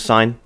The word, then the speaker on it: sine: thing as as sin but it's pronounced as sine and so for the